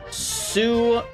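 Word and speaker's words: Suchomimus: Sucho minus is pronounced like Sue, kind of like boo. Suco-mimus.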